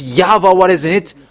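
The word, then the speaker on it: Yahweh: it there in Jewish they pronounce W into V. And there has been from minus uh 200 it's Yava who is called and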